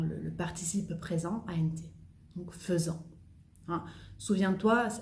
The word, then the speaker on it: faisant: Donc faisant. Souviens-toi, hay que tener cuidado con el verbo faire, que es una excepción de pronunciación, que escribo AI, pero digo feu y no fait.